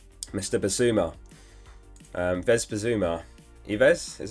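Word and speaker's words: Yves: table it is mr basuma um vesper zuma ives is how you say it zuma he's had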